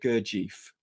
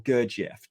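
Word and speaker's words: Gurdjieff: via the enigmatic philosopher Mr gerief or gerf depending on how you like to say his name now it was PD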